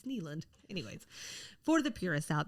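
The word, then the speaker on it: Nylund: And I can pronounce her last name. Good. Which is lovely. Until someone's like, no, knucklehead, it's Neeland.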